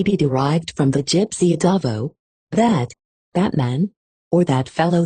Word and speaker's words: adavo: derived from the gypsy adavo, that man, or that fellow there. Adavo is frequently pronounced almost like a duffer, or adava, niggling, which